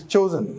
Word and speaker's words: chosen: Choose, chose, chosen, not chosen as is generally pronounced because there is a single O here. It's chosen, not chosen.